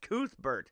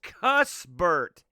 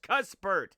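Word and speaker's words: Cuthbert: the way we pronounced koothbert uh in fact i'm looking at bert i'm looking at hazy33 right here no he says the way it should be pronounced is cuss bert cuss c-u-s-s cuspert he said every time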